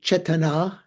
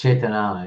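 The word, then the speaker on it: चेतना: It's Chetana, yeah. Chetana. Yeah. Put the emphasis on the last long syllable, chetana.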